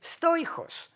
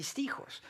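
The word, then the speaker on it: στοίχος: And I have, in ancient Greek, stoichos. It would be stichos with the modern pronunciation.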